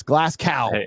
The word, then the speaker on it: Glasgow: university of where of glasgow glasgow however you call it yeah if you're speaking it phonetically yeah okay well you don't need that w there but it's glass cow you guys have arkansas